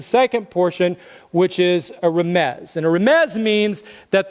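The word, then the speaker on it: רמז: is the English spelling of a Hebrew word pronounced Ramez and a Ramez is basically all it means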